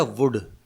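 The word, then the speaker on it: would: ये है वुड, इसमें भी L साइलेंट है।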